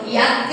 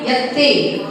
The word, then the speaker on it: यत्ते: और याते नहीं यत्ते, अगर तुमने याते कर दिया यत्ते तो आगे मात्रा जुड़ जाएगी, और यत्ते पढ़ोगे तो उसमें बोल लिखा हुआ है।